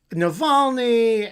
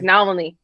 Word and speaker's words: Navalny: Oh, they said like Navalny, or like no. Said it like that. No, okay, maybe not. Okay. The accent is on the middle syllable.